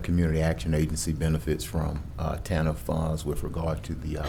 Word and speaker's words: TANF: Pronounced TANF.